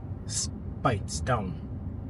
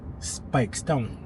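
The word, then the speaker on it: Speightstown: I told you in my last video, it's pronounced Spittown, not Spittown. spikes down. And if you want a little bean in there, you put a little K inside so it sound like spikes down.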